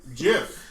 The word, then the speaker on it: GIF: I'm gonna let you finish, but it's pronounced GIF, nigga. GIF. It's GIF. I'm sorry, but I'm gonna have to go with Justin.